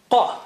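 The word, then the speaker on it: ق: Qa.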